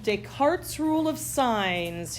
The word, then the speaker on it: Descartes: Descartes rule of signs his name is French so when I put it up on the screen and you see it spelled out it's going to have a lot more letters than we actually pronounce Descartes rule of signs